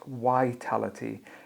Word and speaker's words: vitality: Can I just check your pronunciation of the word vitality, not vitality? You got to focus on your v.